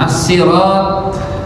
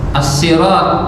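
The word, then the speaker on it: الصراط: Maka kemudian as-siratal mustaqim, as-sirat, ya, itu para ulama secara bahasa sirat itu punya 3 cara baca. Ya, as-sirat pakai shad, bisa juga pakai sin, as-sirat. bahkan ada juga pakai zai, az-zirat.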